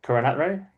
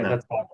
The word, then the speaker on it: Karunaratne: they picked the Sri Lankan ex-Test captain, Dimath Karunathre. Oh, sorry, Alan. I don't know how to pronounce his name. It's pronounced different to how Karunaratne. it's spelled. It's spelled different. Yeah, Karunaratne.